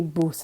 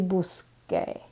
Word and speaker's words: busque: We don't want it to be buse, we want it to be busque with a K sound.